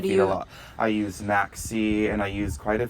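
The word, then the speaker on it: MaxSea: main fertilizer I use spell it m-a-x-c-e-a Maxi okay it's fabulous okay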